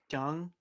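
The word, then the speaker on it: Deng: jump it's more like jung you kind of pronounce the e with like your tongue pressed to the roof of your mouth yeah but i pronouncing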